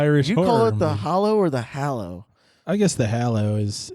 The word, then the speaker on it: Hallow: it well you know I'd say Harry Potter and the Deathly Hallows so I'll go with hallo cuz that is how it's built hmm it's from 2015